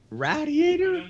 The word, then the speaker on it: radiator: Radiator? Yeah. She comes from Philadelphia, and they say radiator down there. Oh, that's right. Well, they say Philly said rhymes with gladiator.